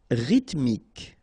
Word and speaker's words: rythmique: Rythmique. Remember, Y pronounced like I and then H doesn't exist.